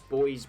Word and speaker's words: buoys: right that's allergy but in the US you do pronounce boys buoys and I haven't quite